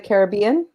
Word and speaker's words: Caribbean: Oh yeah, Nico says that tonight they're showing Pirates of the Caribbean. Now that's actually really difficult to pronounce because in Italian it's Caraibi, Hmm.